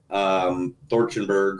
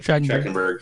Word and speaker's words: Trachtenberg: I read an article about from Dan Thorchenberg or whatever how you pronounce his last name. Trachtenberg.